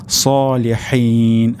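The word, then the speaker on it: الصَّالِحِين: এখানে উচ্চারণটি হবে সলিহিন, হা, সলিহিন।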